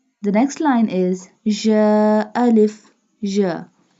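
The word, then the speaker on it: ج: The next line is ja. Alif. Ja. Ja pronounced from the middle part of the tongue touching the middle part of the palate.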